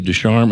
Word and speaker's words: Ducharme: Desarm. Am I pronouncing that name correctly?